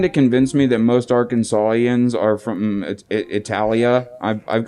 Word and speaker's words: Arkansas: because the ends not pronounced the ends not pronounced either Jake its Arkansas right so it beacon saw it would be